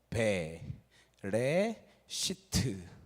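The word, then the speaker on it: בראשית: 요게 B 발음이 나는 거예요. 베 레시트.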